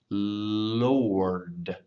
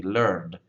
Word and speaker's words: Lord: I often tell my Chinese speaking friends, if you can say L and then you can say D, and then put the R right before the D, that's a pretty close approximation of how to say the word. So L, R, D, Lord, Lord. One of the most common mistakes I hear when people say this is they say learned, learned.